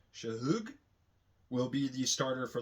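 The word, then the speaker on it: Shough: Shahoo will be the starter for the Saints the rest of the year. Tyler Shug.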